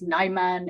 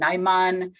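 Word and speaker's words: Najman: with a place where the contribution is naiman n-a-j-m-a-n what we know about seems to be a place that's about 30 kilometers away in Cyrillic characters same pronunciation naiman but it is right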